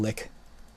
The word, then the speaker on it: Lich: the Lich or lick I've always pronounced it Lich I think it's pronounced to lick I'm a hoe and